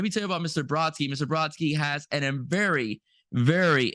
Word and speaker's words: Brodsky: Okay, did I say it correctly? Oh, actually, Brodsky. Brodsky, there Brodsky. we Yeah, go. that's it. Brodsky, That's forgive it. me. Brodsky, okay?